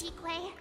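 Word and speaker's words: Qingque: Chique.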